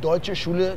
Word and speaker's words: Deutsche: Nah, sekarang kita berada di Deutsche Schule Jakarta, atau DSJ. DSJ. Nah, karena saya kesulitan mengucapkannya, kan? Mungkin Philip bisa menunjukkan pengucapan yang benar? Eh, Philip? Dalam bahasa Jerman, itu adalah Deutsche Jakarta.